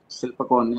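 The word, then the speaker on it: Silpakorn: Similarly, there was a Silpakara, the Silpakon as it is pronounced, Silpakara University for Arts and Crafts, and Kaser Sat, the Krishna Shastra University for Agriculture, like this.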